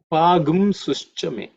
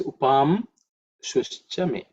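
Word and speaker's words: उपांशुश्च मे: Pagum sushchame. That's the way it's pronounced while chanting. Pagum sushchame. But again, the gum is only for chanting purposes. The word itself is upam shushchame.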